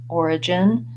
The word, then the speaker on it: origin: stress single syllable so for example in origin it goes before this syllable it just means that you want these two syllables to be short origin and that you have a clear vowel and more length on that stress syllable and in your other